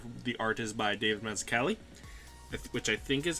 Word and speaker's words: Mazzucchelli: The story was written by Frank Miller, and the art is by David Mazzucchelli, which I think is how I say his name.